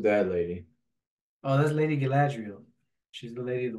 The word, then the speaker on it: Galadriel: lady bran who's that lady oh that's Lady Galadriel she's the lady of the wood Galadriel that's how you actually pronounce it okay what is the capital c